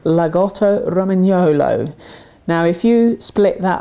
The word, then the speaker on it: Lagotto Romagnolo: It's actually pronounced Lagotto Romagnolo.